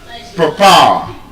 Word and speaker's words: papa: So, the stress is on the second syllable. And again, the reason it appears like that in the British pronunciation is because there's a schwa sound in the first syllable.